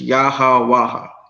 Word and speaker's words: YAHAWAH: Those are the pronunciation of the letters. You can't mispronounce a name if you're saying the letters of the name the way that the letters are, you know, pronounced. And letters originally only have one sound. You see what I'm saying? So the A would have always made the ah sound.